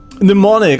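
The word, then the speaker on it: mnemonic: Like that you don't freeze on touch of these pneummonic. Okay. You don't draw you don't pronounce the M. Okay. Pneumonics.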